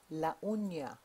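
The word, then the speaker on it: la uña: say fingernail in Spanish and the way you pronounce fingernail launa repeat after me launa the N is the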